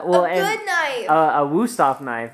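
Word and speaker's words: Wüsthof: A Wusthof knife, right?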